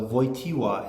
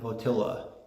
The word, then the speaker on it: Wojtyła: His name is Karl Wojtyła. It's a hard name to pronounce for non-Poles because the W is like a V, and the L in his name is not an L at all.